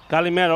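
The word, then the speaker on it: καλημέρα: Kalimera, right, Kalimera.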